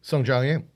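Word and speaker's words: Sungjae Im: Sung Jong Im.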